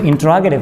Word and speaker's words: interrogative: कुछ लोग इसको इंटेरोगेटिव बोलते हैं, जो कि एक नॉन नेटिव की बनाई गई एक कंसेप्ट है, एक टर्मिनोलॉजी है। इसकी एक्चुअल प्रोनाउंसिएशन की जाती है इंटरोगेटिव sentence, not इंटेरोगेटिव sentence.